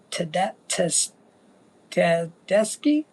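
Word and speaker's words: Tedeschi: her name is Susan, and I believe you pronounce it Ted Teski.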